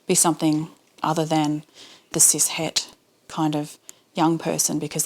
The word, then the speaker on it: cis: something other than the siset kind of young person because that's now not not cool that means you're boring I should probably explain sis Hesh CIS spelled c i s